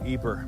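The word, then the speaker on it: Ieper: into it uh episode one welcome to Eber Belgium y-p-r-e-s is the French spelling but here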